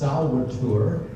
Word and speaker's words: Solvitur: It's pronounced Solvitur, V's or W's in Latin pronunciation. Solvitur ambulando.